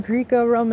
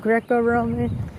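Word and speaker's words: Greco-Roman: I was saying Greek Roman instead of Greco Roman.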